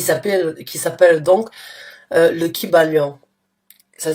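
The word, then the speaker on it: Kybalion: à télécharger qui s'appelle qui s'appelle donc le kibalion ça s'écrit k y B a l i o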